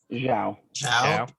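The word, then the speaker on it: Xiao: Zhao.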